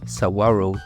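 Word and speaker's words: Saguaro: meexique on commence par sagaro National Park prononcé sawaro National Park un parc où l'on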